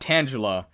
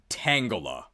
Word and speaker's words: Tangela: I pronounce this correctly it's not Tangela it's Tangela slow defensive pure grass type